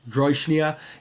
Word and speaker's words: Jróiçnia: can see even from the name of the language, DNA, it does have stress on the initial syllable, not on the second syllable for reasons I will get into.